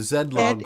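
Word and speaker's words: Zilog: to frodo is the the z80 by the zed log corporation yes you guys all know that company's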